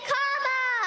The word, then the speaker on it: Kamala: Everybody on the, everybody over here, say Kamala.